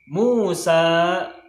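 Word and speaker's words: موسى: Terus berikutnya nahnu Musa wa Harunu. Nah, Musa ini huruf terakhirnya ada ya. Nah, ya-nya nggak usah dibaca.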